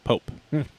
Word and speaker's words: Pope: That's how you say his name, by the way. Pope.